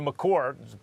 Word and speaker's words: Maker: is because the trajectory of Maker's development, or McCord, correct pronunciation, is not going quite like in a linear way up.